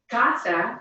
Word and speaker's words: casa: of rule number 1, since it ends in an N, an S, or again, in this case, a vowel, the natural stress will be on the next to last syllable.